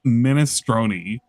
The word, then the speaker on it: minestrone: It's pronounced minestroni by Italians.